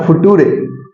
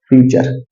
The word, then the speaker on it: future: फूरे नहीं सर फ्यूचर मेरे एक स्टूडेंट ने बहुत छोटा सा वो बोला था फूटूरे तो कोई कोई ऐसे स्पेलिंग करता है प्रोनाउंस लेकिन वो हो गया क्या फ्यूचर ठीक है तो देखिए